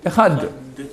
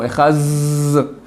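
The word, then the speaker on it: אחד: Donc, normalement, on doit faire un D rallongé. Maintenant, quand quelqu'un ne sait pas prononcer le D comme on doit le faire, c'est en TH anglais. Alors, ou il dira un D trop prononcé, ou il dira un Zayn. Ils font Echaz. Ça ne veut rien dire non plus.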